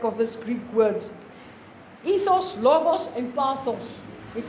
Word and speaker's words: logos: terribly terribly difficult H logos it sounds like the word logic we just have half of the word logic is in there is it logical let